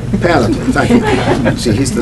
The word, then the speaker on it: panoply: whole panal how do you say that word panop panoply thank you see he's the smart uh of